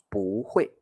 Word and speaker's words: 不会: The word 不, and here we will pronounce it like 不会.